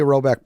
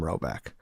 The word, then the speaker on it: Rhoback: Finally, Roback polos are the only polos we wear.